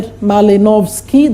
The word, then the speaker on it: Malinowski: There is that man there, Malinowski, that's how you pronounce.